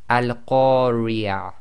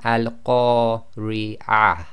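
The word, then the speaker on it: القارعة: Now, the way you've got to pronounce this is because that ta marbuta is at the end of the sentence, we will pronounce that as if it's a ha and it's sakin.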